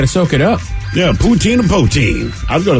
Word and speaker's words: poutine: By the way, it's pronounced... Purchased a house. Okay. It's poutine, not poutine.